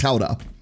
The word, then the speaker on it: Gouda: No, like, the original Dutch pronunciation for it is Gouda. But I don't know anyone that pronounces it like this, especially like native English speakers. It's just Gouda or Gouda, right? That's how everyone else pronounces it.